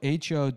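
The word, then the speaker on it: Ho-Ho-Kus: lot of the August Secaucus yeah but it's it's spelled h-o--h-o-k-u-s that's really dumb yeah oh hocus Hohokus yeah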